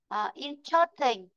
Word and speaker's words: interesting: Ở đấy nhá, interesting thì từ này nó sẽ rơi vào chữ in, còn chớt là âm ở rồi, từ này đọc là âm ở rồi nên nó có trong âm đâu. Interesting.